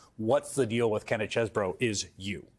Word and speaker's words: Chesebro: the deal with Kenneth Chesebro is you. Right. What's the deal with him? The correct pronunciation is the cheese, because that's how he was known in law school.